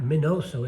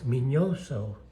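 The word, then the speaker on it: Miñoso: means that it's not minoso it's minoso and that's how you pronounce it in Spanish um he spent a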